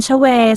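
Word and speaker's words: 최: กับ นาม สกุล เชเว การ ออก เสียง นาม สกุล ชเว ออก เสียง ว่า ชเว ใน ภาษา เกาหลี และ มัก จะ ถอด เป็น ชอย หรือ เฌอ ใน ภาษา อังกฤษ การ สะกด นาม สกุล ชเว สามารถ สะกด ได้ หลาย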